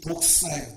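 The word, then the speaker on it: δόξα: 영광이라고 하는 단어를 헬라어를 이렇게 쓰는데 이 말을 발음은 독사입니다. 이 독사예요. 독사. 발음도 똑같습니다.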